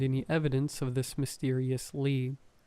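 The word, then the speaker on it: Leigh: It was spelled L E. Mine is spelled L E I G H.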